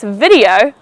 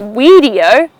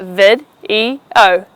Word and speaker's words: video: You are now watching this video on YouTube. It's not weedio, but vid-e-o, video.